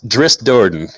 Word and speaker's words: Drizzt Do'Urden: want made I mean I can never pronounce his name right that one I will say that I don't yeah it's Drizzt Do'Urden yes yeah I still wouldn't get it undead